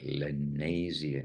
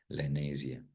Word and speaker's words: Lenasia: South that is the I never knew the proper pronunciation but lenia it seems to be something like Malaysia but n lania South SAA of